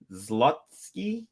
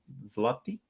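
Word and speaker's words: złoty: Another 578, 25 Zlotsky. No, I know I said it wrong. Zloty.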